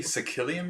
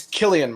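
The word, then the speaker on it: Cillian: you say his name did you say sicilian murphy it's killian murphy killian are you me yeah it's killian it's not silly murphy my life no i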